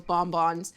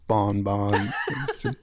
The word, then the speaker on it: bonbon: I like the way you said bonbon. That's actually pronounced bonbon. Bonbon.